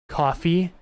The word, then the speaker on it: Ko-fi: I believe this is pronounced coffee, Ko-fi.